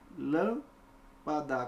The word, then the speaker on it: lâmpada: Lâmpada. Qual é a sílaba tônica? Lã.